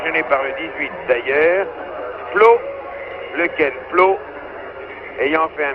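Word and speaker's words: Pleau: Flo, ça s'écrit en français, P-L-E-A-U, c'est un descendant de français sûrement.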